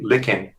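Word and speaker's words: Lykken: there's a question here what's the author's name lichen yeah is is how it's pronounced but l-y-k-k-e-n and another viewer asked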